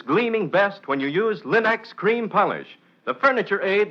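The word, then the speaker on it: Linx: It's spelled L-I-N-X. Linex.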